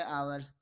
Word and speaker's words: hour: दूसरा HOUR, HOUR को हम घंटा कहते हैं, जैसे 5 घंटे, 6 घंटे, 6 आवर्स, 7 आवर्स, 6 आवर्स, 5 आवर्स, 8 आवर्स। इसमें एच साइलेंट की मुद्रा में है, मतलब यहाँ पर एच को हम बोलेंगे नहीं।